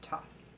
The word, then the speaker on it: Thoth: Egyptian god of wisdom, Thoth, or Thoth, or Toth, or Toth. I've heard it pronounced all those ways. I pronounce it Thoth.